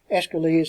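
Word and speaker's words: Aeschylus: expose you to escalate escalates it doesn't look like it would be pronounced that way but that's the way it is pronounced who wrote persians agamemnon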